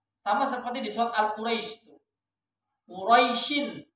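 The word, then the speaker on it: قريش: Quraisyin ya, Quraisyin bukan Kursyin, tapi rohnya berharokat fathah.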